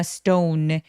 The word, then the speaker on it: stone: stone 할 때 S 뒤에 T들은 살짝 된 소리를 냅니다. dropped in a stone, dropped in a stone 여유롭게 모음 소리 내주시고요.